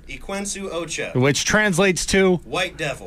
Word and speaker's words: Equinsu Ocha: song is and here let me know if I get the pronunciation right I've been practicing eain Ocha close enough what is it say it quenu Ocha which translates to white